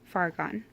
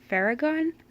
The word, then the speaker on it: Fargon: So I just say Fargon. I've heard people pronounce it Faragon, which I really like, and I did consider